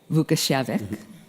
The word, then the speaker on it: Vukićević: Vukićević. Thank you, Stephanie, and I need to say that you did great with pronouncing my surname.